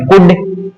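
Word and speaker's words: could: ये नाम है अपने कुड यानी कुड नहीं पड़ेगी इसको इसको शुड नहीं पड़ेंगे इसको वुड नहीं पड़ेगी इसमें एल साइलेंट रहता है ये सभी में क्या करना है एल को रखना है साइलेंट यानी कुड, शुड, वुड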